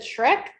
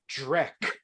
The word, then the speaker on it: Drek: You said Shrek? Drek. Drek.